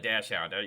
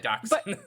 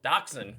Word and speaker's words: dachshund: You know, I've always called it a dash hound. But you're right. Dax. Maybe it could be dash hound depending on the geography. Yeah, I don't know. That's I I probably have said it wrong all my life.